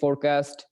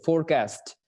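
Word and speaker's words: forecast: ঠিক আছে, তাহলে যেটাতে এফ ও আর থাকে সেটাকে উচ্চারণ করি আমরা ফর, আর যেটা এফ ও আর ই থাকে সেটাকে আমরা বলি হচ্ছে ফোর।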